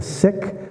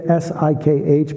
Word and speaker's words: Sikh: It's actually pronounced the Sikh faith, S-I-K-H, but most people say Sikh.